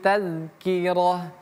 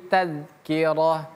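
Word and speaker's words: تَذْكِرَةٌ: Inna hadhi tazkirah. 1 2 3. Inna hadhi tazkirah. Ingat ini dalal bukan taz tapi tazkirah.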